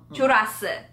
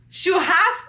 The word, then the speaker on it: churrasco: Churasse. Jurassic Park. No, just kidding. Jurassum. Ah, churrasco.